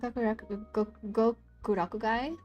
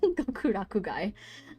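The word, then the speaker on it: Gokurakugai: overarching plot I love gur gokuraku guy I keep saying it wrong gokuraku guy um but I don't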